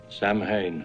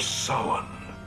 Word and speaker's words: Samhain: I like how Dr. Loomis in Halloween 2 invented his own pronunciation of the name Samhain. Samhain. But here in Halloween 3, Cochran absolutely nails it. The Festival of Samhain.